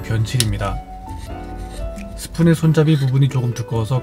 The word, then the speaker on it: 변칠: 발음에 주의해주세요. 똥칠 아니고 변칠입니다.